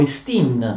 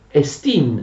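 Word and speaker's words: ἐστί: Oppure si dice esti, ritraendo l'accento, quando significa esiste, esistere, ma in questo caso significa essere, verbo essere, quindi non ha un accento, si pronuncia esti solo quando tu prendi la parola da sola.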